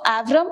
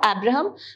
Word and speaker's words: Avrom: Okay, so some people also pronounce it as Abraham. So Avram or Abraham Sutskever, he writes about the wagon of shoes.